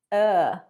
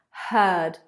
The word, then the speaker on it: heard: Like bird, or English food. Heard, heard. 49.